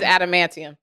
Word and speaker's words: adamantium: how you pronounce it grown up I always pronounce it like that but now nowadays adamantium adamantium it's always been that I just said